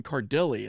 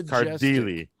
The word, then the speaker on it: Cardelli: guest co-host tonight, Cardelli. Is that how you pronounce your last name? Yeah, that's the American pronunciation. If you go to Italy, it's Cardelli.